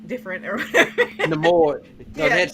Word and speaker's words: Namor: I was like, "Well, that's one watch," but I did like it, and I liked that Neymar or they kept saying his name wrong, different or whatever. Namor.